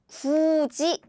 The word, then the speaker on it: 굳이: So now it's not 구디, but the pronunciation become 굳이, as in 굳이.